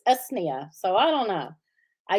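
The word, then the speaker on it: Usnea: to say oh yeah i used to say you used nia but everybody i talked to says no it's usnia so i don't know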